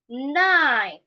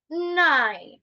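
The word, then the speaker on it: nein: Nine. Nine. It means no. Just pronounce it the way you speak nine.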